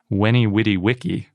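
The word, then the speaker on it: veni, vidi, vici: in the original latin veni vitivici was probably pronounced when he witty wiki oh that's different because not only is the c a k but v's were w's so all that is to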